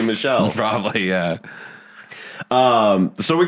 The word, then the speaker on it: Michel: when his name is Michelle. And you're right, I actually did pronounce that wrong, didn't I? It should technically be Michelle.